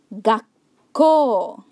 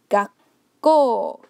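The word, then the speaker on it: がっこう: Gakko, with a short pause in between. Gakko, Gakko.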